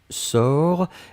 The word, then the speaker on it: sors: personne du présent c'est je sors s o r s on ne prononce pas le s p on doit quand même l'écrire futur simple de l'indicatif